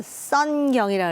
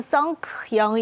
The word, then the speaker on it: 선경: 사람들이 잘 기억을 하거든요 한국 이름을 가지고 가면 발음을 제대로 못 해 갖고 자기네들끼리 키드 거리기도 하고요 그거 아십니까 왜 예를 들어서 선경이라 그러잖아요 옛날 그 SK 원래 선경이 있잖아요 근데 그걸 자꾸 성크 영 이런 식으로 자꾸 발음을 하니까 식으로 하죠 그래서